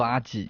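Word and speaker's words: アジ: 接下来是竹荚鱼，日文读作阿吉，也是我的日文名。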